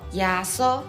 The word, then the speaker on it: 耶穌: 耶稣就念作耶稣，来对我念一解耶稣。